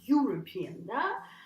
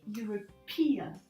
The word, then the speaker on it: European: And the trick of this word is actually in the moving stress, because when you want to say European Commission, European Union, it's not, the stress is not on the first syllable anymore. So you don't say European, so you say European. The stress moves, but it's